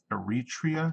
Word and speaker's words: Eritrea: a region Northern Region I know that now Eritrea is how you pronounce that G gray T gray that's right